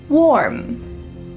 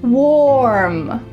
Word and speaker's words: warm: Warm. Warm. Warm. Make sure that this is one syllable.